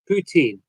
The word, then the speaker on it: poutine: Uh cheese curds, ground gravy, and French pronounce poutine, not Putin.